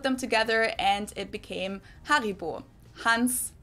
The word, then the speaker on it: Haribo: Haribo is actually German we pronounce it Haribo Haribo and again the name